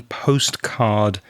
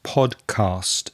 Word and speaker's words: podcast: on though pal you you said it right at the beginning postcard which is what you should have said was podcast those two words are very similar so postcard is podcast pod cast is what you're listening to did you hear any